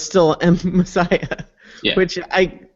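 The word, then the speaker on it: Masaya: the sound because it's I definitely remember it was not spelled like Messiah like the religious term but it definitely sounded like that when pronounced yeah it spilled mas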